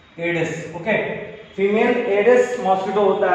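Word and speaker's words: Aedes: And dengue is caused by female एंडीज, okay, it is not एंडीज, एडिस, okay.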